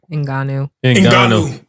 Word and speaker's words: Ngannou: How you pronounce his last name? Ngannou.